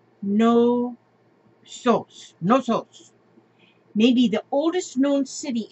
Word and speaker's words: Knossos: would you say that knossos crete Heraklion look at these the architecture in there look at this and this one he says okay gnosis gnosis pronounced no sauce no toes maybe the oldest known